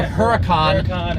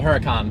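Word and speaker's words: Huracán: sound that c but some people even call it the Huracan in the factory so I just call it the Huracan but it is not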